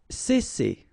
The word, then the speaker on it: cesser: Cesser. Alright, so double S here, as I said previously, and you've got two vowels, so it's really strong. It's S, cesser.